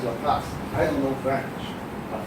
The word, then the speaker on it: Laplace: So it's pronounced Laplace. I don't know French, but I know how to pronounce this word. Okay, Laplace. It's not Laplace. Okay, it's Laplace.